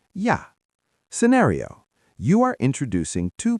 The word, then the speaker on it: ja: The word for and is yah.